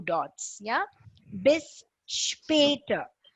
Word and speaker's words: später: And any letters that comes with an S and a P together is always said as sp. S and P is S HP.